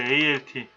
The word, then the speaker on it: Alt: ALT. 거기 있죠? 이거는 Alternate라 그래요. Alt라고 읽어요.